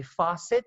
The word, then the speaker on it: faucet: that is basically all in an American accent people say Fassett so the pronunciation is a bit different but the rule remains the